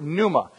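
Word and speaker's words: πνεῦμα: spirit that word spirit is the Greek word Numa spell it overhead you can see it on the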